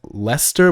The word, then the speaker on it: Leicester: crystal palace uh there's one called like lester but it's like spelled like yeah leicester city yeah they won the